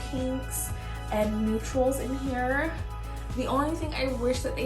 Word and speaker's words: Tsioyn: my name is seon i know it's spelled weird but it's pronounced theon um i hope you